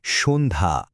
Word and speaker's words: সন্ধ্যা: এর সঠিক উচ্চারণটা হবে সন্ধ্যা। স হয়ে যাচ্ছে শো আর ধা হয়ে যাচ্ছে ধা। আশা করি এই ছোট্ট অনুশীলনটা উচ্চারণের প্যাটার্ন বুঝতে বেশ সাহায্য করবে।